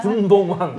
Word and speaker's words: 분봉왕: 예, 우리 용민이 맨날 본붕왕이라고 헷갈리는 이 분봉왕 발음 네, 잘해 네.